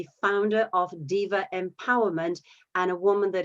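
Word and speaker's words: Deva: giveaway to some people diva is spelled d-e-v-a and that's the roman word for chester so it's diva empowerment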